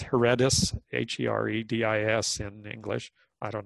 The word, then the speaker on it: Heredis: It's Heredis, H-E-R-E-D-I-S in English.